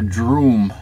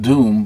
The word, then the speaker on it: Droom: uh Marvel age superhero called Dr droom not Doom but droom with a d r o o m please say I think